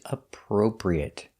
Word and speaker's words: appropriate: Our next word is appropriate. This word is difficult to pronounce because you have the pur sound two times.